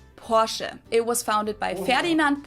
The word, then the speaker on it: Porsche: I've heard Americans pronounce it Porsche or Porsche. In German, we say Porsche. So there's like this short E sound in the end. Porsche.